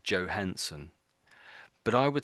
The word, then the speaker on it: Johansson: But when I hear people talking about her, I'm pretty sure they say Johansson.